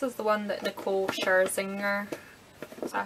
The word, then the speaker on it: Scherzinger: I'm sure this is the one that Nicole Scherzinger, is that how you say it? Yeah, Scherzinger.